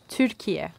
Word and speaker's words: Türkiye: Türkiye.